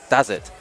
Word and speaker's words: Dazardz: So the first match will be winner side, Muda versus Dazardz, or how did you want us to pronounce it? Dazardz. His name is Dazardz.